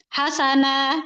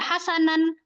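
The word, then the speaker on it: حسنا: itu fatah semua tuh hasana gitu ya atau ayat 3nya abada walada gitu. Kenapa bacanya enggak hasanan atau abadan waladan? Tidak. Kenapa? Inilah yang disebut juga dengan mad iwat.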